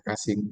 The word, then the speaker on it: Cushing: Jadi tulisannya adalah Cushing, tapi bacanya adalah Cushing syndrome.